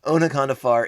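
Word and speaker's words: Onaconda Farr: demand of you yeah so this is when anaconda far is realizing oh nakano far jeez pronounce the o a little bit harder tome good lord onakandafar is is realizing he's made a terrible mistake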